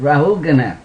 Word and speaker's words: Rahugana: Servants of King rahugana is that how you pronounce it rahugana ragana rahugana my technici she helps me out R hugana and their friend technician different rahugana rahugana rahugana yes got it rahugana ordered Jada barata to